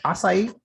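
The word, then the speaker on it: açaí: my gosh it's a blueberry how do you pronounce that word acai acai yes i'll say blueberry outside lemonade it's called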